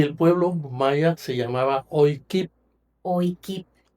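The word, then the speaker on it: Oycib: Y el pueblo maya se llamaba Oikip. Oikip. O Y c i b alta la bl la vial. Oip, pero se se pronuncia o kip.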